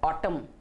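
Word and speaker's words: autumn: सो एन is silent. दूसरा शब्द है ऑटम.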